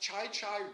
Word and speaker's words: Chi-Chi: So So in the 70s the great uh Spanish golfer uh Chi-Chi Rodriguez, right? And it should be pronounced Chai Chai Rodriguez, right? That should be Chai Chai, but we say Chichi Rodriguez, right?